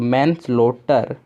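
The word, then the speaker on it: manslaughter: बीच में जो GS है ये हमारा साइलेंट है, तो मैन स्लोटर।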